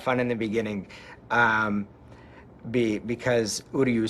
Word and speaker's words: Uryu: We had a lot of fun in the beginning because Uryu sounds like who are you? So, you know, I'd say, you know, how do you pronounce it? And they go, Uryu.